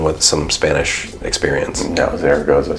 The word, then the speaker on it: Zaragoza: Is there a better pronunciation of that? You're the only one with some Spanish experience. No, Zaragoza sounds right.